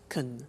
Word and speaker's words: can: we can speak German alright sir can becomes Caen when we speak now the negative form is